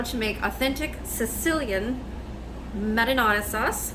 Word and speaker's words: marinara: So I'm going to show you guys how to make authentic Sicilian marinara sauce. Marinara. If you guys are, I know not everybody pronounces it the Italian way.